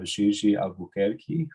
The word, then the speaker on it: GG Albuquerque: Today we have GG Albuquerque, who is a journalist and an academic researcher based in Recife, Brazil.